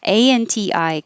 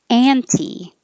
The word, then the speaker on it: anti: ANTI can be pronounced, I should stress this, anti or anti.